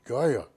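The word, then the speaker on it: Geier: I said g-u-y-e-r and he pronounced it Gaia oh wait a minute g-e-i-e-r there it is different yeah and I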